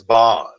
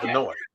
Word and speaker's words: Benoit: But you heard what my mom said they want to pronounce it as Bond, but it's Benoit.